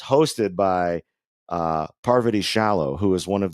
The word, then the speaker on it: Parvati: And then it's funny because the first time she was ever on Survivor, everybody kept calling her Poverty and not being able to say her name, and she would correct everybody.